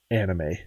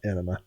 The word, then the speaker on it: anime: so there you go it is pronounced anime not enema uh so this is